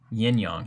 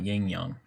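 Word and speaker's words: yin-yang: Yinyong, not yingyang.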